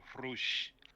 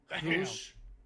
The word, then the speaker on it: Rush: You should start being a Hispanic and pronounce it like a Hispanic with Rush. Rush.